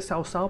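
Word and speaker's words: 曹操: O Sao, bueno, se pronuncia Sao Sao, pero bueno, se dice Cao. Yo voy a decir siempre Cao Cao porque así siempre lo he dicho.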